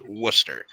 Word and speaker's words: Worcester: from is it came from the city of Worcester it's spelled warchester but it's pronounced Worcester so it's just Worcester Shire or Shearer sauce